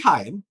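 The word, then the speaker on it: Rayan: season for Brentford, and Hyen, well, I mean, his name, of course, we pronounce his name as Ryan, but it's actually Hyen.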